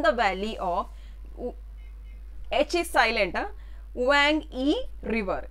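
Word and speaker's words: Huang He: valley of his island wang e river h is silent again wang e river as per chinese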